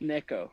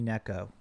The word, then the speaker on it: NekoZ: the you know it's it's actually pronounced at the letter Z so I so I just added it on to yeah well that makes